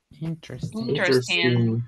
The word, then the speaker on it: interesting: What is the pronunciation of this word? Interesting. Interesting. Imagine that this E is mute. It's not there. Okay? The pronunciation is interesting. We cannot say interesting.